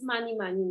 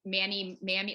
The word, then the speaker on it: Manimami: much about things, so it is a little hard for people to pronounce in the United States because I think a lot of people want to say Manny, Mammy, like they don't, like the A's are kind of weird.